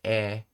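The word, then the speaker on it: へ: And notice how I'm pronouncing it as e, even though it's the letter he because when you use it as a particle, you say e.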